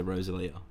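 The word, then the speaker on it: Rosalía: No, where's the dash? It's on the last I. So Rosalia. So that's when you put the emphasis. Yeah. It was on the O, it'd be Rosalia.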